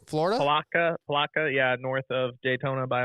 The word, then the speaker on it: Palatka: at I don't know how you say it Palatka Florida Palatka yeah north of Daytona by about 45 minutes